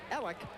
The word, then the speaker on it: Eliuk: It's Ell. It's spelled E L I U K from Vancouver.